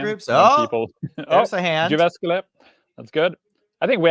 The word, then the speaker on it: Jyväskylä: Jyväskylä.